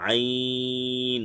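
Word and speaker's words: عين: আইন হচ্ছে চার আলিফ টেনে পড়তে হবে, আইন। গলা চেপে পাতলা আওয়াজে পড়তে হবে, অর্থাৎ কণ্ঠনালীর মধ্যখান চেপে পড়তে হবে, আইন। কণ্ঠনালী চেপে, আইন।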